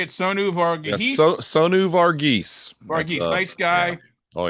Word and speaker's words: Sonu Varghese: Yes, Sonu Varghese.